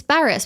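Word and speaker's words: Barrass: Yeah, it's Barras, because I was chatting to someone today who is a non-Victorian club person who was like, it is so frustrating that AFL media suddenly give a shit about how to say his name correctly. They've been saying it wrong this entire time. Yeah, exactly. It's Barras.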